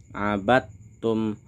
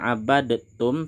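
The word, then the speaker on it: عَبَدْتُمْ: Abattum. Di sini bacanya tidak abadtum tapi langsung kita masukkan abattum.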